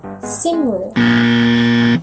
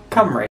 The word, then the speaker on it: Cymru: Simru. Nope. That's your first try. Simru? Nope. Kimru? Nope. How do you pronounce that? And that is pronounced Cymru.